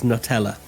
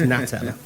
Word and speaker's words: Natella: natella I was I I really want to pronounce it as Nutella but it isn't it's natella and he said it was